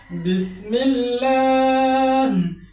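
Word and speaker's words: بسم الله: অর্থাৎ আল্লাহ শব্দের আগে যদি জের থাকে তখন আল্লাহ শব্দের লামটাকে পাতলা করে উচ্চারণ করতে হয়। যেমন বিসমিল্লাহ এটা ল হবে না এটা হবে বিসমিল্লাহ বিসমিল্লাহ লিল্লাহুমমা আল্লাহ শব্দের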